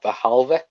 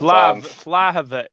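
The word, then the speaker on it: Vlahović: Vahalvik, is that how you pronounce it? Is that the Serbian lad? Yeah, from Vlahovic.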